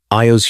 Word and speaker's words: Io: Io's human consciousness, her memories of language and love and identity, trapped inside a brainstem designed for grazing. She could think her own name, Io. 2 syllables, simple.